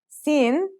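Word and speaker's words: سين: Those are Sin and Shin. Let's start with Sin. Sin sounds just like the English S.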